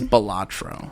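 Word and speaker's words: Balatro: I said it wrong. I'm not saying it. It is Bolatro.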